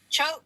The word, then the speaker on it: Chote: Chote, how am I pronouncing that? Choke like boat.